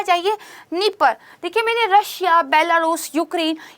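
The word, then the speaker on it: Dnieper: कौन सी आती है, नीपर आती है। स्पेलिंग इसकी डी से शुरू होती है बट बोलते इसको नीपर ही है।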